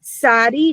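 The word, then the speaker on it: Tsadi: So Sadi, just like the name Sadi, you can tell where people are in the world by how they pronounce their Hebrew.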